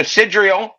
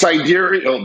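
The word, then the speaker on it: sidereal: The purpose is to correct within their heliocentric worldview the difference between the sidrial right year. You know what that is? No, of course you don't. It's pronounced cidurial.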